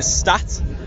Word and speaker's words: Staat: So I'm here at 2000 Trees on the Thursday with the Staat.